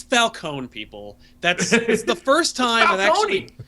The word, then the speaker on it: Falcone: We get Falcone in here, which doesn't make any sense to me because the way Falone At least they're finally That drove me crazy.